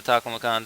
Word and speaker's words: Taklamakan: This is the Taklamakan Desert. So I think it was just a pronunciation error. Tasmanian Devil, Taklamakan Desert. So don't get those two confused.